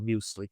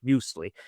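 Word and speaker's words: Müsli: which are literally labeled muesli uh and this is spelled m u s l i and it's really a German word musli uh and musli is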